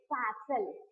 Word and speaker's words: castle: He saw a big building, that is we are calling castle. What we are calling that? Castle. He saw a castle there. I said that. Yes, castle. Don't pronounce that T, right?